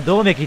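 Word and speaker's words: 百目鬼: 100 目どめよあれはどめきって読むのえ私と同じ読みあれでどめきって読むんや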